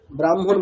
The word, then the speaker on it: ব্রাহ্মণ: এই হয় ম এর ক্ষেত্রে ব্যতিক্রম। আগে ম বলতে হবে। স্পেলিং আগে হ আছে। আচ্ছা। কিন্তু আমাকে উচ্চারণ করতে হবে আগে ম তারপরে হ।